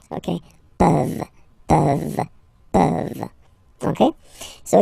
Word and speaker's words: peuvent: Okay, as usual, this ending, this ENT ending, you write it, you don't pronounce it. Okay, peuvent.